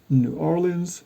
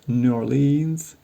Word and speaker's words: New Orleans: born as they all are knowledge no Linens New Orleans New Orleans New Orleans they all seem to be acceptable